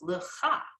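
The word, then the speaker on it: לְךָ: So that now becomes 2 syllables, lecha.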